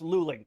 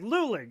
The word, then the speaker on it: Luling: It's pronounced Luling. Thank you.